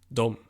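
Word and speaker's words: dem: you is here here them is don't don't again doesn't really make sense with the way it's spelt that it is how it is there so I think we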